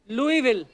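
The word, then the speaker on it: Louisville: आगे तभी बढ़ेंगे लुईस जब लिखा है तो स क्यों नहीं बोल रहे हैं जैसे नाइफ में क साइलेंट होता है के साइलेंट होता है वो तो के पहले आता है ये तो बीच में घुसा हुआ है बट कई बार लुईस प्रोनाउंस होता है एस के साथ और कई बार नहीं वो कई क्यों नहीं होता है कब होता है ये मुझे पता नहीं है मेयर ऑफ लुई विल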